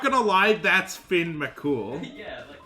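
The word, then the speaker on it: Fionn Mac Cumhaill: It's pronounced Finn McCool.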